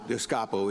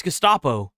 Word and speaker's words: Gestapo: Listen, Donald Trump's modernday Gestapo Gestapo is scooping folks. Bro couldn't even say it. Still didn't even pronounce it right. It's Gustapo.